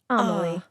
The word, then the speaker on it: Amelie: You said pronounced like Emily, but with an A in the beginning. Amelie.